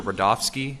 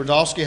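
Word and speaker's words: Rudofski: record special agent rodofsky that's r-u-d-o-f-s-k-i and it's pronounced Rudolph and then ski special agent rodolski how you doing today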